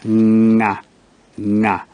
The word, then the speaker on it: Ng'ang'a: Now N can also be prefixed again with the G but you put an apostrophe after the G and the sound becomes nga, nga, like in the word moranga or in the name nganga. Now, J is never written